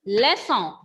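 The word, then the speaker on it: leçon: When I said lesso, here N is silent.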